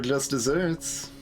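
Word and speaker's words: just deserts: spelled with two s's this is spelled like desert but still pronounced uh dessert and it has yeah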